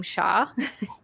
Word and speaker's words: Xia: out the message and she pronounces my name sha because that is TE that is technically how you're supposed to pronounce it um oh oh my